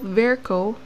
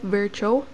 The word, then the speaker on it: Virchow: So a physician and pathologist named Rudolf Virchow, but some would pronounce this as Rudolf Virchow.